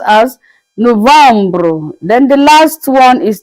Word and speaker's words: novembre: November is pronounced as Novembre.